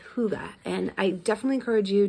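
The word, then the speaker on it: hygge: um practices in the winter um something called Huga and I definitely encourage you to check that out on Pinterest or online like what is Huga it's spelled um Hy g g um but pronounced Huga and it's really a time of reflection us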